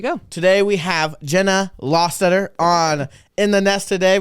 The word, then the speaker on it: Lostutter: life it is pronounced law stutter it's like pronouncing like saying the word law like this is the law and then stutter law stutter make it together and